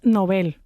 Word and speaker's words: Nobel: Se dice Nobel o novel de literatura. Pues la pronunciación recomendada es novel aguda, o sea, novel igual